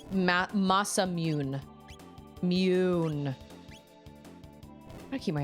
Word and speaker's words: Masamune: Almost no romanization of Japanese has the English silent e vowel pronunciation. So, mune is not correct then is what you're saying. It's ma masamune.